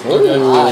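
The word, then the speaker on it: 綺麗: Kirei? Kirei. Kirei. Okay. So you can say that to the girls. Kirei.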